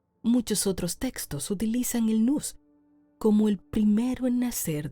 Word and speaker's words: nous: sino que se utilizaba la palabra nus se escribe nous ahí te lo dejo